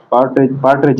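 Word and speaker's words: partridge: अब ये पार्टरेज है, इसमें आर साइलेंट है और डी भी साइलेंट है, ठीक है।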